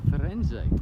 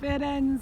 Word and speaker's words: Firenze: Welcome to Firenze. Is that how you pronounce it? Firenze.